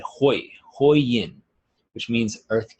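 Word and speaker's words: Hui: And look in the bottom right-hand corner where it says, it's spelled H-U-I, but it's said Hoi, Hoi Yin, which means earth gate or root chakra.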